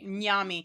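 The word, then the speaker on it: Nyame: Nyami. It's spelled like that, but with an E instead.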